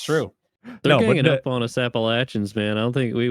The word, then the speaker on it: Appalachian: Appalachian or Appalachin? It's Appalachin.